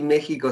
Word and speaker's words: México: con x Pero bueno la la x de ustedes les se parece al pronunciar a una J también si se escucha como J pero se escribe con x una de las cuestiones